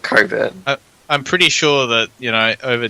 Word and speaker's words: Cockburn: No, they refer to it like as a joke, We prefer to pronounce Cockburn without the CK. So we call it Coburn.